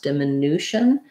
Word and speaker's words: diminution: the rules of english it has second to last syllable stress diminution and so then i have the clear vowel u for my letter u whereas in diminutive um